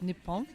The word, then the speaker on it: Nippon: I already learned that Japan in Japanese is Nippon.